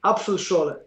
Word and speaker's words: Apfelschorle: Apfelschorle.